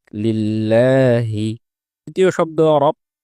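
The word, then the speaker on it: لله: দুই নাম্বার হচ্ছে লিল্লাহি। এ জায়গায় যেহেতু আল্লাহ শব্দের লামের পূর্বে জের এসেছে এজন্য এই লামটি পাতলা হয়ে উচ্চারিত হবে। উচ্চারণটা হবে লিল্লাহি।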